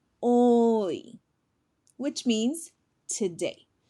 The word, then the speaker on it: hoy: Hoy. Hoy, which means today. Remember, the H is a silent letter.